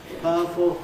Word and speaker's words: powerful: So I practically lose the I in fireman, and I practically lose the U in powerful. Not our, but powerful, fireman. Those smoother pronunciations are the normal ones.